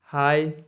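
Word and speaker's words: high: टी फाइट मतलब लड़ाई एच आई जीी एच हाई मतलब ऊंचा डी ए यू जी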